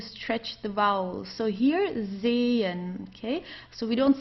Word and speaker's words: sehen: So here, sehen, okay? So we don't say sechen or sehen or so. We don't pronounce the H at all.